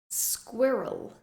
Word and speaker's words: squirrel: and repeat biscuit biscuit squirrel squirrel this is an especially difficult word to say because you have the squ at the beginning and the r in the middle ending with a sound